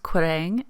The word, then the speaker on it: Quiraing: So it's pronounced Quiraing, and it means pillared enclosure, which was very fitting.